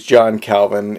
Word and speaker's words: John Calvin: kovon but for us here in English-speaking countries John Calvin is the correct way to pronounce his name now 1509 places Calvin relatively